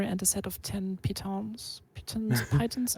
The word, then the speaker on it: piton: of 10 pitons titans i think it's piton there's there's so many gm's who don't know how how to pronounce that it's it's like a it's like a a joke this nobody knows how to pronounce piton but it is indeed pronounced piton uh so you have